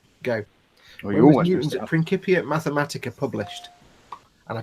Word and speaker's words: Principia: Well, when was Newton's Principia Mathematica published? And I pronounced it correctly, Principia. Aha, see? Aha, I know me science. When was Principia published? Is it not Principia? Nope, it's Principia.